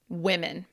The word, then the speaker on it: women: Yeah, so this generally, that's how it's pronounced. Women. So yeah, more like with that I, women. It's the same sound here and here. Here would be woman, woman, woman.